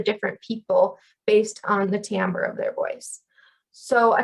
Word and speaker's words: timbre: weird after that so there's timbre t-i-m-b-r-e sometimes mispronounced timber timbre is about resonance or